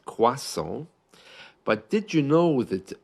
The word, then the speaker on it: croissant: what to ask for in English it's spelled like crossant the pronunciation is the French one quas but British people feel